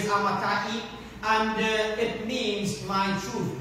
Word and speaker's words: Amittai: We always, most people pronounce it Amittai, but in the Hebrew is Amittai.